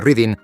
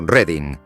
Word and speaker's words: Reading: Berkshire tiene reading, que no se pronuncia como la palabra reading, sino como reading y que no es ciudad oficialmente, aunque sus habitantes llevan años insistiendo en que debería serlo.